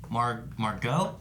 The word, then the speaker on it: Margot: I like Margot. Is that how you say it? Margot Robbie. Yeah. I'm trying to. I know there's a T there, but I don't think you pronounce the T.